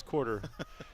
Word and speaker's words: Quarter: Oh, it's not Cooter, it's Quarter.